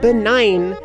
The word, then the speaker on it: benign: really weird is like um benign why would benign be pronounced like that it's b-e-n-i-g-n and I guess